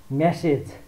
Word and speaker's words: message: यो उदाहरण हेरौँ त, MESSAGE मेसेज अर्थात् मेसेज भन्ने गर्दछौँ हामी, तर यसको उच्चारण मेसिज हुन्छ।